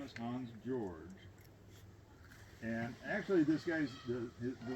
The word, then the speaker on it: Georg: and a T, and the George is pronounced Georg, and Trout is pronounced Trot.